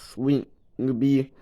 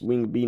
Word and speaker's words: Wing B: And of course, Swing B. I think there I said the name wrong. And it's Wing B, not Swing Beetle.